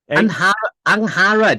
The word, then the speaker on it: Angharad: Angharad. It's a Welsh name.